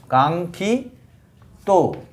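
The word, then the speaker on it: কাঙ্ক্ষিত: খিয় দিয়ে যুক্ত বর্ণটা কাঙ্খি ত উচ্চারণ অনেকটা অং এর মত নাকে উচ্চারণ করতে হয় তারপরে যে বর্ণটা থাকে সেইটা উচ্চারিত হয় যেমন আকাঙ্ক্ষা আঙ্খা এটা কাঙ্খিত কাঙ্খিত কাঙ্খিত শব্দের অর্থ বাঞ্ছনীয়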